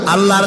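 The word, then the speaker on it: الله: বলিতে বিশ্বাস আল্লাহর নাম আল্লাহ বলেন তো আল্লাহ নয় কিন্তু আল্লাহ হচ্ছে অশুদ্ধ শুদ্ধ হচ্ছে আল্লাহ বলার সময় মুখটা গোল হয়ে যাবে বলেন তো সবাই উচ্চারণ করেন আল্লাহ আবার বলেন আল্লাহ আবার বলেন আল্লাহ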